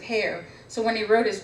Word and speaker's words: Hare: And I was mentioning earlier that Christian Hare wanted people to pronounce it hair.